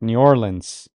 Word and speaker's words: New Orleans: He says the first way to pronounce this correct, New Orleans.